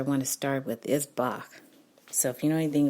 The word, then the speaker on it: Bach: Johann Sebastian Bach but you pronounce it with a little softer ending so Bach so it doesn't sound like you're making the sound of a chicken so he's a BA